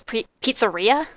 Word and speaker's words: pizzeria: my past recordings that I pronounced it it's area when it's pizzeria and now I'm feeling